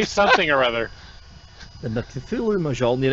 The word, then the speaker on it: Cthulhu: It's the Cthulhu.